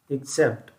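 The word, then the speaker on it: except: एक्सेप्ट इसका अगर उच्चारण देखें तो इक और सेप्ट, एक्सेप्ट, इस प्रकार से इसका प्रोनाउंसिएशन होगा।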